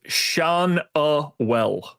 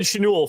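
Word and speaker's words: Schanuel: The pronunciation is Shaunwell.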